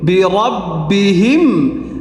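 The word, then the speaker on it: بربهم: হা মিম জের হিম বি রব্বিহিম এখানে উচ্চারণটা হবে বি রব্বিহিম র টা মোটা হবে বিরব্বিহিম তাহলে এখান থেকে তাহলে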